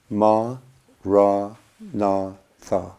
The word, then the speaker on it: Maranatha: And if you choose this word, say it as 4 syllables: Ma, Ra, Na, Tha.